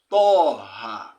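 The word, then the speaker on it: طه: Toha. You need say toh. Or tih. Or to. Now pronounce it, don't pronounce that.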